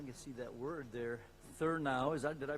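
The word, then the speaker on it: Thurnau: thuron um I can see that word there therow is that did I pronounce that correctly Perry that's right thow Professor uh at the University of Mich Michigan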